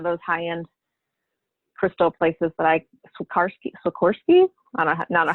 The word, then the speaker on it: Swarovski: And I also have, a snake bracelet, gosh, from one of those high-end crystal places that Swarovski? I don't know how to say it. Swarovski.